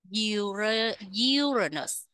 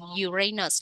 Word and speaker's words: Uranus: Space pro Space pro uranus nhấ â m uranus Nếu các bạn nhấn âm hai uranus là bị sai nha uranus uranus UR Urus